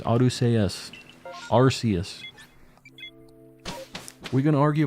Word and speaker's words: Arceus: It's pronounced Arceus.